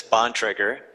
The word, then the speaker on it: Bontrager: And it's Bontrager, but your pronunciation worked.